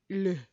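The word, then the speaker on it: l'eau: Le.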